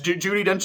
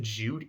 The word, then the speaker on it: Judi Dench: I think I said Judy. No, it is Judi Dench. For some reason, the way I was saying it made me sound like I was pronouncing it wrong.